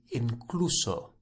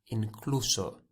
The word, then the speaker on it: incluso: few different words for this but we'll use incluso incluso i-n-c-l-u-s-o incluso think of it as including incluso so